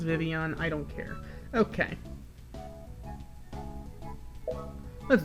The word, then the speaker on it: Vivillon: Scolipede and Vivillon. Yeah, I know it's pronounced Vivian, I don't care.